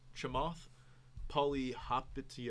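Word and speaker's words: Chamath Palihapitiya: heard of this guy before his name is shamov polly hoppity uh that's pretty good you got you got that pronunciation right you said it perfectly but he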